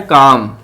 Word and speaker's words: calm: सबसे पहले हमारे पास आ रहा है काम, CALM, काम, तो हम किसको जो है वो सर्कल करेंगे, जो साइलेंट लेटर है, तो हम साइलेंट लेटर एल को सर्कल करेंगे क्योंकि एल जो है वो साइलेंट है, उसकी साउंड नहीं आ रही।